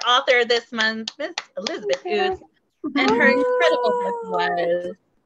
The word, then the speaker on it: Ouzts: So, and Ouzts is O-U-Z-T-S, and it rhymes with boots.